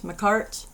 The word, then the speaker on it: Makartt: I always pronounce that wrong. Makartt.